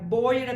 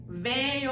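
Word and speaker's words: veo: ഇ ഓ എന്നാണ് എഴുതിയിരിക്കുന്നതെങ്കിലും ആ വി സ്പാനിഷിൽ pronounce ചെയ്യുന്നത് നമ്മുടെ ബോയുടെ ബി ഇല്ലേ ആ ബി ആയിട്ടാണ് ബേയോ എന്നേ പറയുള്ളൂ വേയോ എന്ന് പറയില്ല അപ്പൊ ബേയോ ബേയോ എന്ന് പറയുന്നത്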